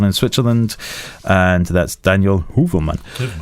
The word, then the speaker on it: Heuvelman: Okay, so I have a question here from Daniel Heuvelman. No. Do you make these names up? No, and there's an umlaut above the O, which pronounce it ooh, isn't it?